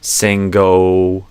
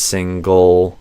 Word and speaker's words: single: Singo versus single.